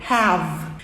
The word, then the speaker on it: have: Termina com V, o som de V, have.